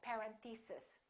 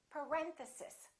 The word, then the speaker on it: parenthesis: detail first syllable stress this is a hard word a lot of my students make a mistake on this one a lot of them say something like parenthesis and it's actually the second syllable it's parenthesis parenthesis next one these can